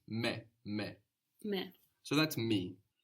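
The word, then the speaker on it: με: then very many good the word for me in Greek is the same as in English you just pronounce it more like how it's written me me me so that's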